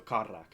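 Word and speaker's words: Kardloc: with a k lock loc uh but it's pronounced uh look with a like a rolling r so karak correct cool i got it right off the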